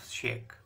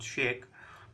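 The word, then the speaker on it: sake: popular japanese drink that pronounced like far in father and k rhymes with which so it is generally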